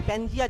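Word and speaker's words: Pangaea: सब साथ में थे, पेंजिया जिसको बोलते हैं ना, अब कोई कोई इसको पेंगी भी बोलता है ना, तो प्रोनाउंसिएशन में नहीं जाना, मोटा मोटी याद रखो, इसको पेंजिया बोलते हैं।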